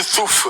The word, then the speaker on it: Stouff: Ça se prononce Stou ou ça se prononce Stouff? Stouff comme touffe.